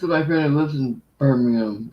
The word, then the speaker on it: Birmingham: friend who lives in birmingham says iran how do you say it birmingham birmingham that's wrong yeah that's wrong well excuse me it's birmingham well my friend told